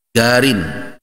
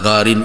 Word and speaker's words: garin: Qarin artinya yang mendampingi lahjah lahjah pengucapan kata garin itu kalau di daerah Jazirah Arab, daerah seperti Saudi itu juga daerah Yaman misalnya, kata huruf qaf itu biasanya yuntaqu diucapkan dengan gain.